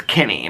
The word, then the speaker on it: Kinne: His name is Kinney, but it's spelled Kinne.